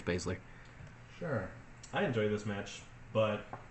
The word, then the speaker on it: Baszler: Baszler champion going in how you say her name whatever I was bad I'm pretty sure it's basically sure I enjoyed this match